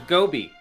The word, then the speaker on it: Gobi: Rhymes with Kobe. Oh, the Gobi.